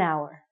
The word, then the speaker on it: hour: we're saying our so because this word our sounds like a vowel because the H is silent we have to say an hour okay you got it you with me an hour so an we use